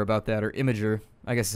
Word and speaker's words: Imgur: Which, by the way, I saw a thing on Imgur about that, or Imgur, I guess is how you say it.